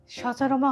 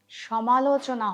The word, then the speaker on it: সমালোচনা: মা চতুর্দিকে সচরমা হচ্ছে। ফ্রান্সের প্রেসিডেন্ট নাকি তার বউর হাতে মাইর খাইছে। সবই বুঝলাম বৌমা। কিন্তু উচ্চারণটা সচরমা হবে না। সমালোচনা হবে।